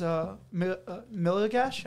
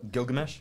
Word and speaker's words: Gilgamesh: my favorite scene is Miligash. I don't know how to say his name. Gilgamesh.